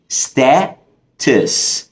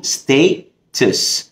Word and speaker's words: status: مننا بيتلخبط فيها وهي كلمة status او لها نطق تاني برضو ممكن تقول status. اوكي وبالامريكان بنقلب التيل في النص دي خفيفة سريعة كده بنقولها status ومعناها وضع او حالة.